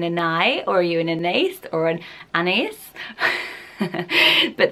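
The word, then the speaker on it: Anaïs: beautiful pretty as name but some people also pronounce it just and I without the strong s at the end and people say that is how you're supposed to pronounce it people on forums who cool that say they that's my name this is how I spell it but I say and I and the S should be silent so can anyone clear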